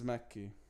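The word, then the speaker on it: Makki: mentioned hinata from haiku um my name is mekki it's spelled m-a-k-k-i that's also the nickname of a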